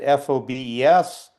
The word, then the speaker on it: Forbes: exiled to Holland and people in Holland didn't didn't pronounce the R. And so some of them immigrated to the US and kept it fobs.